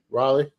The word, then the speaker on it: Raleigh: Raleigh. Raleigh.